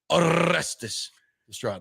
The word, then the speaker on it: Orestes Destrade: Big O show with Orestes Destrade. You know, one of the things I've always loved how you say my name, because you say it very well. You roll the R's.